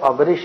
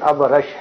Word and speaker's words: ابرش: ابرش اصل جو عربی تلفظ ہے وہ ابرش نہیں بلکہ ابرش ہے.